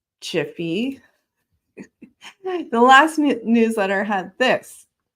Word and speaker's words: GIF: gif Jiffy yes people it's pronounced as chiffy the last newsletter had